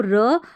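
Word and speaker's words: raw: तो र और AW को ओ करके पढ़ा, तो ऐसे देखिए आर को र और AW ओ, तो रॉ बन गया।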